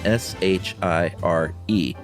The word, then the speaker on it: shire: ones that end in s-h-i-r-e Shiri The Unofficial rule guys when standing alone it's pronounced Shire like wire but when used as